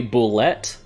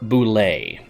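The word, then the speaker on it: bulette: I always say boulette. I think the correct way to say it is boulet, but I really prefer boulette.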